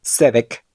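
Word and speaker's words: צדק: Cuando la letra Sadi está al inicio de una palabra, es difícil percibir el sonido de la T, y suena como si la palabra comenzara por S.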